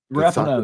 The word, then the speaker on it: Rapinoe: But the thing that like it pisses me off is Megan Rapinoe, or is that how you say her name? Rapinoe.